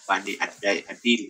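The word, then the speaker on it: Bani ad-Dil: Bani dari bani addil ya ya bacanya Bani adil ya itu sebagai penunjuk jalan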